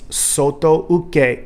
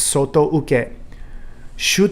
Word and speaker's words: soto uke: want you to all start pronouncing this properly it's soto uke or outside block okay now you don't often hear that when this is um being introduced but it's soto uke uchi okay or knife